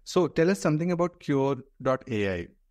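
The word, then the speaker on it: Qure.ai: So tell us something about Cure.ai, right? I hope I'm pronouncing it right.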